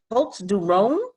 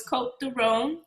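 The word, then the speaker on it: Côtes du Rhône: Cote de Rhone. Get that right. You don't pronounce the S, so it's Cote de Rhone. Cote de Rhone.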